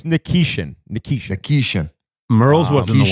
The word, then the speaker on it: Nikishin: Then you got Nishkin. Is that how you say it? Nishkin. Nikishkin. I think it's Nikishin.